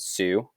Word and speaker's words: Sioux: so native resistance by 1876 most of the Sioux Indian that's how you pronounce this word Sioux Indians had been forced onto reservations this guy